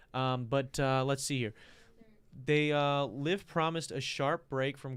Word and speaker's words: LIV: Fusty traditionalism, stating or starting with its name, which when pronounced rhymes with give. So it is live. Okay. So I'm saying it wrong all the time. So live.